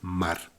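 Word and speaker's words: מר: agua era amarga bien en hebreo amargo se pronuncia mar entonces amarga es mara pero porque está aquí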